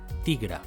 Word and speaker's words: tigre: "Tigre": "ti-gre".